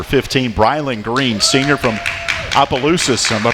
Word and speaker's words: Opelousas: Our player guest, number one here tonight, is number 15, Brylan Green, senior from Opelousas. Am I pronouncing that right? Opelousas.